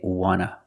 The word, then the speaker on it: want: want just want and we see the T and want is an N so we don't pronounce a t and we say wna wna I just want to